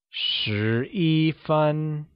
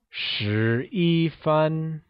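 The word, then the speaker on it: 十一分: 11 minutes in mandarin do we say it as sure fun or do you think it is son fun or could it be ooh fun 11 minutes translates to sure e fun in mandarin moving on how do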